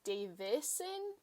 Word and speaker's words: Davison: um i just realized his name is james davison there's no dave there's no d you can you see